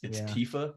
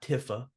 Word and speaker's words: Tifa: It's Tifa, not Tifa.